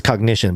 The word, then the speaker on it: COGNIXION: I think it's cognition, but it's spelled with an X.